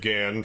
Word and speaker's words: Gahan: thinking like there's like Dave Gann from Depeche Mode that's spelled like Gahan and there's like Vince